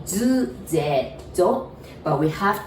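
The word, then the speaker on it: づ: And that's, you might almost want to say D-U, do, but it pronounces zu, Z-U, zu.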